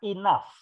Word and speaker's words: enough: I came to know ini dibaca Inaf Inaf yang menunjukkan cara bacanya gini tulisannya memang kayak gini uh ya tapi seorang